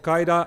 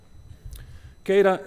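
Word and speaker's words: CAIDA: Casey Casey lates Kara not Qaeda I was just explained that that is the wrong way to pronounce it the center of a plight internet data analysis kaida is a unique place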